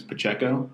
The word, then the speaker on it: Pacheco: my last name it's my last name is Pacheco and it's exactly how it's spelt but people like to say Chiyo Pacheco right pistachio well that's